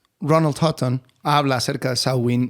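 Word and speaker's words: Samhain: una coincidencia entre la Cómo será la pronunciación irlandesa sawin sawin que se celebraba el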